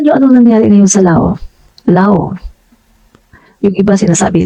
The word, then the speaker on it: Laos: Hindi po Laos ang hindi po Laos ang basa silent s po yon law l a o s Lao Pero kapag binasa mo siya ng ano Laos ' ba pero Lao po yun silent s Tingnan niyo po yung